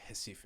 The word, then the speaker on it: Recife: It's because I think they pronounce the R's as like J's or H's, so it's like Recife, I think.